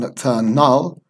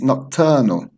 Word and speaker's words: nocturnal: end of this sound it's not return null or return now it's nocturnal nocturnal nocturnal and down here we